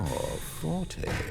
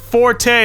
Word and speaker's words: forte: critical thinking Stanley you're Forte it's pronounced Fort it can be pronounced Forte as well but the original actual correct pronunciation sport genius H I'm